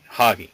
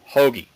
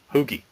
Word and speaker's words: hoagie: And he would say, can you say hoagie, hoggy, no, hoagie, hoogie, close enough.